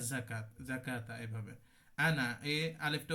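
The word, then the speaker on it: أنا: what a বায়েদা পড়তে হয় কি যাকাত যাকাতা এভাবে আনা এই আলিফটা উচ্চারণ হয় না অসল করে পড়লে কিভাবে পড়ি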